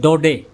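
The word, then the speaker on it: Daudet: ये अल्फोंस डोडे, देखो इसका प्रोनंसिएशन आपको अलग अलग सुनने को मिलेगा, अल्फोंस, और ये है डोडे, डे, इसमें टी साइलेंट है, तो आप टी को न बोलें। अल्फोंस डोडे ये एक फ्रेंच ऑथर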